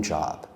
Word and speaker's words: job: Many students mispronounce this word as yob.